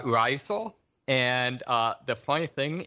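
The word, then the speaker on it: Rizal: figurehead is uh Jose I think this pronounced like risal uh R risal and uh the funny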